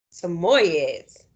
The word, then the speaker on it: Samoyed: no wonder what five semi-i'm sorry samoyed's that's how you say it but little willy wasn't